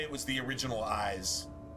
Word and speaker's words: Ys: it was the original eyes. It's spelled Y apostrophe S, but the original eyes on the Sega.